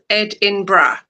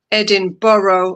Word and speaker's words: Edinburgh: The most commonly Edinra is the most commonly pronounced as Edinbra or Edinra typically with three syllables like this is so difficult. I I have problems incorrect pronunciations incorrect pronunciation Edinburg Edin Burrow or Edin Burrow.